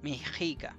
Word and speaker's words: Mexica: una X en realidad esa x no es una x es una letra antigua es una letra antigua que se pronunciada como una G Entonces el la pronunciación bien de Méxica de Méxica de mexica Perdón mexica es mexica mexica mexica porque hay varias jotas